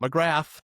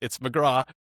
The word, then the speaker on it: McGrath: If you watch the episode, it's not McGrath. It's McGrath. It's the right way to pronounce her last name.